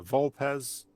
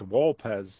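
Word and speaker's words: Vulpes: Did you guys notice he mispronounced uh Vulpz as Vulp? Yeah. Yeah. Yeah. Actually, it's Walpz. It's supposed to be with a W.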